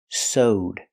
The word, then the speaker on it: sewed: The action sew in the past is sewed. That's right, it's pronounced with the long O. Sewed. Plus the D sound. Connected together.